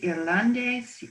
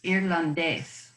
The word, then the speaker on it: irlandés: Take a look at the word for Irish and try to pronounce that again with the emphasis on where the accent is. Irlandés. One more time, because you're emphasizing the ah. Okay. You're emphasizing the ah. Try to emphasize the ending.